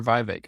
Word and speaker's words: Vivek: Yeah, he's very Is it adamant that Vivek or Vivek? I don't know how to pronounce it. he tweeted Vivek as in cake.